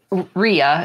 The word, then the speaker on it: rya: about with the knots I would say Rya what's the Ria is closer to the Norwegian one Ria yeah Ria um